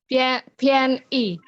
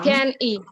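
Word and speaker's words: 便宜: Jadi kita tambahin H secara sadar. Oh ini bacanya PHIAN gitu ya.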